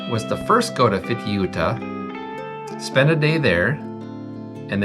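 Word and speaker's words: Fitiuta: However, Fitucha, how do you say it? Fituta.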